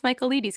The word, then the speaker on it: Michaelides: How many pinkies up would you give The Fury by Alex Michaelides?